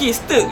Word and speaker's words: Sterk: macam mana nak sebut Stirk dengan betul. Mungkin itu jugalah saya nak lah 2021 semua orang tahu macam mana nak pronounce Stirk Production. STRK Stirk lah.